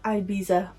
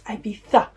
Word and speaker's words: Ibiza: I've seen far too many Americans, yeah, I'm looking at you, pronounce this as Ibiza. It's Ibiza.